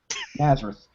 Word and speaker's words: Nazareth: if you're G um I always love how they pronounce Nazareth as two symbols when they do that Jesus of Nazareth Nazareth um so it may